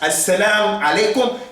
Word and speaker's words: as-salam alaikum: That's how they used to say it. Because they didn't have knowledge, they didn't mix with Arabs, so they didn't say as-salam alaikum.